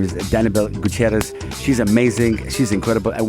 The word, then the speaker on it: Gutierrez: We are with Danabelle Gutierrez.